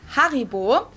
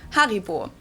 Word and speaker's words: Haribo: everyone knew that Haribo is actually German we pronounce it Haribo har and again the name originates in the